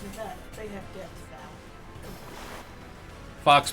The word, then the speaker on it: Nevada: You mispronounced Satan's butthole. Yeah, the state that is a testament to mankind's arrogance. Nevada? It's Nevada.